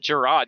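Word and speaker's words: Jerrod: Plus, Gerard is just spelled completely different from Jared, so... Yeah, it's spelled like the guy from Subway, like Jared, and that's not how it's spelled in the games. It's RROD, so you want to say Gerard.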